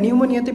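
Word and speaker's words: pneumonia: এরপর হচ্ছে নিউমোনিয়াতে P silent, এই পি এর উচ্চারণ হবে না, এখানে টি এর উচ্চারণ হবে না, এগুলোকে বলে সাইলেন্ট লেটার।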